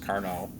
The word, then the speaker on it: Carnot: a French uh and I said car but it's actually pronounced carno um and he did